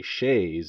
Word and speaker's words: Shays: this consistently wrong and think it is s-h-a-y and that we say shay's in the possessive sense but no his name is shays i mean i suppose we could over pronounce it and say schaez's rebellion but i'm not going to do that it's simply shay's rebellion but i digress now the